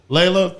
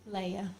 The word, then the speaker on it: Leia: Layla, thank you, right? Or did I say it right? Thank Leah you. or is it Layla? Leia. Leia. Like Princess Princess Leia.